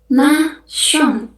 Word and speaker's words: nation: Nation dalam bahasa Perancisnya kita ngomongnya nasion. Na dan contoh yang terakhir ada education.